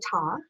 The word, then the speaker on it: Ta: and my name is taw i know a lot of people pronounce it tay so it's okay i'm